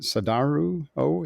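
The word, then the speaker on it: Sadaharu Oh: Is it Sadaharu? Oh, is that how you say his name?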